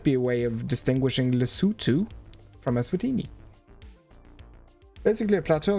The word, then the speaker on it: Lesotho: I've always said Lesotho. I learned the other day that it's actually pronounced Lesotho.